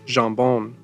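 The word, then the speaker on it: jambon: stop eating ham but in French ham is pronounced jamb and that of course sounds an awful lot like Shamone and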